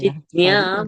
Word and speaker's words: जिज्ञ: ज्ञानी च भरतर्षभ चतुर्विधा भजन्ते माम् जना सुकृतिनोऽर्जुन आर्तो जिज्ञासुरर्थार्थी Jigya is a Hindi pronunciation. Gya. जिज्ञा sorry sorry Jignya would be Sanskrit जिज्ञा pronunciation.